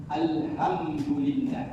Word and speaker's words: Alhamdulillah: Alhamdulillah yang betul. Alhamdulillah menggunakan ha pedas makhrajul hurufnya itu tengah bunyinya ada bunyi ha ha ha.